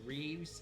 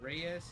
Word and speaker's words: Reyes: Oh, you mean when you call me Reeves instead of Reyes?